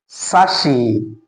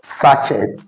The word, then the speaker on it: sachet: Now according to this transcription, this word is actually pronounced as sashi and not sachet.